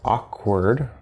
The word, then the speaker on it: awkward: And another example, we have the word awkward. And so this A-W here is again, silent W, ah.